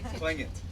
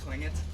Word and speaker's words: Tlingit: George told me, but I can't pronounce it. Tlingit. Tlingit. Can you guys say Tlingit?